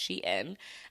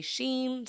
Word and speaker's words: Shein: I think it's pronounced Shein. Some people say Sheen, some people say Shine. I think it is Shein.